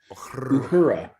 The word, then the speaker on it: Uhura: Uhura.